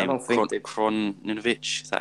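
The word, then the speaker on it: Krovinović: I don't think Kroninovic. Is that how you say his name? Krovinovic. Yeah. Krovinovic.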